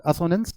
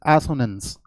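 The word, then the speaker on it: assonance: नाउ एसोनेंस आप देख लो, एसोनेंस, इट्स नॉट असोनेंस, इट्स एसोनेंस।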